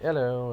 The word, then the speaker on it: ELL-000: So the ELL-000 is pronounced hello.